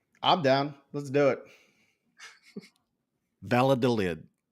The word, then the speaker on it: Valladolid: 4 European soccer names and you attempt to pronounce them and or spell them. I'm down. Let's do it. Valladolid. Valladilly? What? Say that again, Chuck. Valladolid.